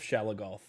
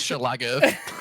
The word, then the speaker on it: Schlagath: Zor's pronouncing it wrong this whole time. It's actually pronounced Schlagath.